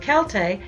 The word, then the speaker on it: Celt: Although the word Celt is sometimes pronounced with an S sound, as in the Boston Celtics, the K sound is now preferred because it's more true to the original Greek and Latin pronunciation.